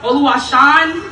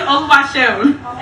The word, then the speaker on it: Oluwaseun: I've been called Oluwashan, Oluwaseun, but it's really Oluwaseun.